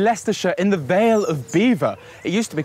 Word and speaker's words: Belvoir: Today I'm in Leicester in the Veil of Beaver.